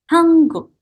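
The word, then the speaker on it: 한국: Jadi di sini huruf N, nian, ketemu dengan huruf Kyok, maka kita bacanya menjadi Hanguk.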